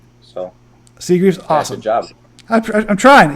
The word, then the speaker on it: Seagreaves: Being last name, I always like making sure I got the last name pronounced right. Yeah, you got it pretty well, Seagreaves. So Seagreaves, awesome.